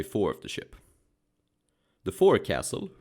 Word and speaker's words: forecastle: The forecastle, pronounced forecastle, was either the raised deck at the bow of the vessel, or just the area below.